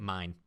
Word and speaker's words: Main: main by the way mine it's spelled main though but they saved mine cuz they're Japanese mine she calls mine flat